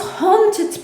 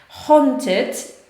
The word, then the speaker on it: haunted: Haunted oznacza nawiedzony. Haunt, nie hunt, bo hunt to jest polować, a haunted, tak? Mamy AU, które się wymawia trochę takie jak właśnie pomiędzy A i U. Haunted.